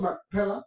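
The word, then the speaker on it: Macpela: la cueva de mpel lo decimos mpela porque ah no tiene el acento en español pero en hebreo lleva el acento en la a como lo tenemos aquí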